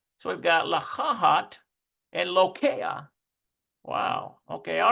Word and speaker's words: לוקח: Let's see if we can get the pronunciation of it. We've got a lamed, a holem. We've got a cough. And we've got a final... לוקח. Listen to that, lokea. לוקח. Wow, lokea.